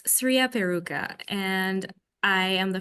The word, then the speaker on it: Sriya: It's actually supposed to be Sriya, but everyone calls me Shriya. There's no H. So it's Sriya Peruka, and I am the founder of V Marketing.